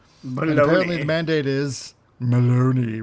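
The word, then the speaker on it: Belloni: And apparently the mandate is Maloney, rhymes with baloney, which is why I think everything is a lie anyway.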